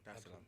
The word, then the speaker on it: Dar es Salaam: come straight to Tanzania, Dar es Salaam. Did I pronounce that right? Yeah, Dar es Salaam.